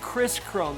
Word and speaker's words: Kris Krohn: Hey, you guys, if you want to learn more about this hack that he's talking about, find Kris Krohn. That's spelled with 2 Ks.